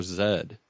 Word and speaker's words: zed: Thursday and we were going over how you pronounce the letter Z or Zed and just casually the guy said you should